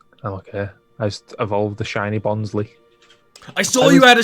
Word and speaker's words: Bonsly: fair enough sorry Ali's mom hi it's definitely bonsly bonsly bonsly it was this year you don't we have